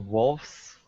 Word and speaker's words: wolves: when we make plurals from nouns that end with F, not all, but many. Wife, wives, loaf, loaves, wolf, wolves.